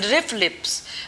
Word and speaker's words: RFLP: commonly we can pronounce them as riff lips.